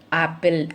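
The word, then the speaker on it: apple: எழுதுறது ஏ அப்படிங்கிற முதல் எழுத்து எழுதுகிறோம், ஆனால் உச்சரிக்கிறது ஆப்பிள், ஆ. ஓகே, டிஃப்ரென்ஸ் புரியுதா உங்களுக்கு? வித்தியாசம். எழுதுறது ஏ அப்படிங்கிற லெட்டரை எழுத்தை எழுதுகிறோம், ஏங்கிற எழுத்தை எழுதுகிறோம். ஆனால் முன்னாடி அதோட வார்த்தை அமைப்பு எப்படி உச்சரிப்பில் இருக்குது? ஆப்பிள், ஏப்பிள்னு சொல்லலை, ஆப்பிள், ஆ.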